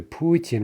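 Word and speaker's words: Путин: dealing with bhakti so compare that for example to putin right puichin ends in ian but the stress is on the first syllable putin right orlanian here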